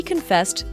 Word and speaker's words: confess: with a clause she confessed that she had revealed his secrets to their co-workers remember to stress the second syllable confess she confessed it